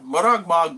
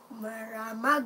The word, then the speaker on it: Maramag: We're in Bukidnon, Maragmag, Bukidnon, Bukidnon. Maramag, not maragmag. What? Maramag. They say I say it wrong.